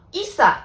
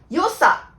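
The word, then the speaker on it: 良さ: ただこの場合はいさではなくてよさと読むことを覚えておいてくださいね。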